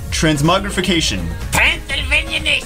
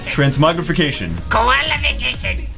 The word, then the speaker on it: transmogrification: that no that's not that's not how you say it no transmogrification transmogrification transmogrification all right well